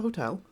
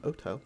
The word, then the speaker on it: hotel: It's technically it's a hotel or an hotel because you don't pronounce the H, but it's close by, and yeah, you guys head over there.